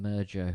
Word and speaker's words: Emergo: I think that's how you say it, Emergo, because the skeleton emerges out of the vat.